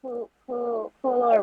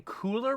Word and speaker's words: Kualoa: I keep hearing Cooler Ranch, like the chips, and I was like, that can't be right.